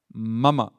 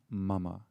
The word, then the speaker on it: mama: Mama. Mama, not mama like mother, mama. In Sanskrit it means mine.